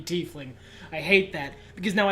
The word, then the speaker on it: tiefling: break some walls down I am playing 80 fling as much as I represent that pronunciation paladin of conquest then it had good reasons to back it up actually there's actually item illogical reasons it should be tiefling I hate that because